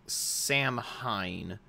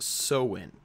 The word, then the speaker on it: Samhain: that looks like they word it looks like Sam Hine are Samhain sometimes the eye is in front of the a but it's actually pronounced so in so the cells used to celebrate this holiday